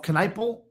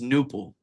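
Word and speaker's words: Knueppel: Buff Caniple. Can guy can shoot. I I want to say I I don't think you say the K, bro. I think it's just nipple.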